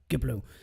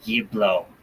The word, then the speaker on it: Yiblo: So, Giblu, did you get all the oils that I asked for yesterday? Yes, I got the oils that you wanted, and you're doing the hard G again. It's a Yiblo.